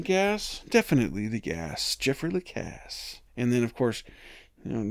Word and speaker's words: Lacasse: The mnemonic I have been using is definitely the gas, Jeffrey Lacasse. Definitely the gas, Jeffrey Lacasse. Oh yeah, you need some gas? Definitely the gas, Jeffrey Lacasse.